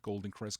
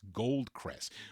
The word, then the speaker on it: Gold Crest: The Gold Crest label, not Golden Crest, Gold Crest.